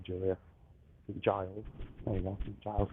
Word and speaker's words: St. Giles: St. Giles.